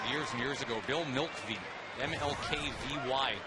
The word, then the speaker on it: Mlkvy: and years ago bill milkvie mlkvy the owl without a vowel that one's outside the